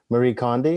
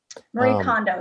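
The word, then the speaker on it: Marie Kondo: um forget her name I'm not going to pronounce it correctly but Marie coni is that right Marie condo yep Marie condo yeah she or there was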